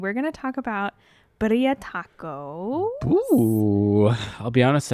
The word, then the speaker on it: birria: Birria tacos. I'm probably going to not be able to pronounce it correctly the entire time. You're supposed to roll the R.